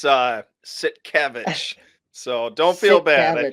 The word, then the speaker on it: Sitkiewicz: Tonight we've got on Alvin Sitkiewicz. I just butchered that.